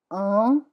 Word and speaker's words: un: Un is one, it's nasal.